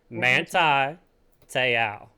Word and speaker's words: Manti Te'o: Okay, so Manti Te'o was Manti Te'o is how you say it.